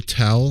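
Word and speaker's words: Towle: they bring in phil towel i think his last name's pronounced tell but uh he's a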